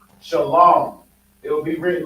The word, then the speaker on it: shalom: when you see this it's still pronounced like this shalom shalom you know so this will be Shalom this is Shalom you understand so it's still the same thing you understand like I said if you were pronounce it as shwam it's like you saying pces so when they when